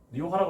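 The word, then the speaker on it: Rioja: 리오하라고 해서 H라고 생각하지 마세요. J입니다. J. RIOJ 리오하라고 했습니다.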